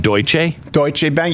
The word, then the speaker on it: Deutsche Bank: is the free market anymore how did you pronounce that Deutsch a Deutsche Bank you do it all properly chancellor i do